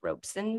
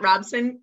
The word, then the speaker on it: Robeson: we had on robeson it's pronounced robeson by the way um not not robson everybody says everybody says